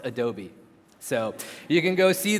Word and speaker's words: Adobe: to the conversation room I found out it is pronounced Adobe so you can go